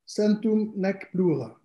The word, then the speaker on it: Centum nec plura: And when I saw that it was 100 and no more, how do you pronounce? Centum nec plura.